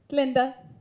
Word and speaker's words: Glinda: Glinda. The G is silent.